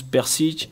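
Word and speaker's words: Prcić: nom qu'on me dise qu'il manque des voyelles à l'intérieur mais non c'est ça se prononce persique et je pense que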